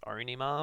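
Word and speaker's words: Ænima: and again this is it's a weird name to pronounce um there was like a radio interview with adam jones who tried said that it was pronounced onima or something so let's just go with that um 1996 it was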